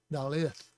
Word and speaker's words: dalet: that's not the sound it's a hard d um but this is an ear sound like fish so it's da lith dallas and that means a